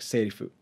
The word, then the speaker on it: セリフ: R and L and the F isn't really English F it's more of like in between an F and H so and my pronounce